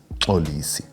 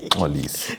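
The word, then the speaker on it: Mxolisi: It's not Molisi, it's Olisi. I can pronounce his name, but it's going to be funny for our community here. Our community is international, bro. Yeah, Molisi is M-XOLISO. So the X is, yes.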